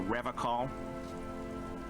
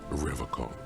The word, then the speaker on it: Revachol: But someone has to stay strong for Revachol. You pronounced it wrong. He pronounces Revachol with a hard K, unlike other people.